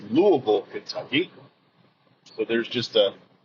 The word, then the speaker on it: Louisville: If you're from the Midwest, you don't go to Louisville, Kentucky. It's Louisville, Kentucky.